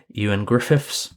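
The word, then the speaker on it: Ioan Gruffudd: ended up going to actor Yan Griffiths and before any of you say anything yes that's how his name is pronounced and he also reportedly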